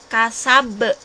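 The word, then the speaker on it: كسب: Nah, ini kubro, kasab. Tulisannya kasaba, tapi kita bacanya kasab.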